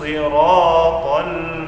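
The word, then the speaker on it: الصراط: Bedakan huruf so dengan huruf sa. Ihdinas siratal mustaqim. Huruf so ini adalah huruf yang tebal, bukan huruf yang tipis. Jadi pengucapan itu harus ada kayak seperti tekanan, seperti vokal huruf O.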